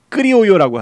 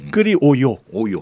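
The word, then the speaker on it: criollo: 또 이제 스페인 발음으로는 크리오요라고 하는데 크리오요. 네네네. 더블 L은 Y 발음입니다.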